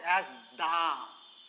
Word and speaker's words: the: one word, that is the. The word is same, 3-lettered word, the. But it has two pronunciations, but the meaning is same.